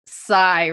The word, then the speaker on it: Sai: my my name is Psy ready I will spell it out for you s-a-i and the reason I do it is because AI isn't my name you know so uh